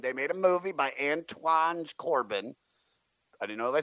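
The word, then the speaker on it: Anton Corbijn: The dude killed himself, and they made a movie by Antoine Corbin.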